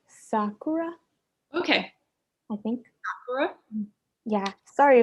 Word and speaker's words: Sakura: that if i'm reading this correctly they are pronounced sakura okay i think yeah sorry if i butchered